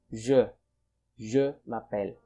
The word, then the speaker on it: je m'appelle: don't say je m'appelle you don't pronounce this as j but pronounce this as je mapel okay next when we